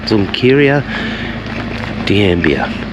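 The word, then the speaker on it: Xunqueira de Ambía: And um we are going to Zunkira de Ambia. That's how you pronounce it, Zunkira de Ambia.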